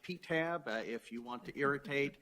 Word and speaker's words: PTAB: Our name is generally pronounced PTAB.